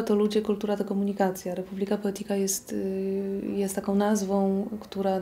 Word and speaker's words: Republica Poetica: O tyle Republika Poetika, po hiszpańsku wymawia się Republika Poetika, więc nie ma problemu.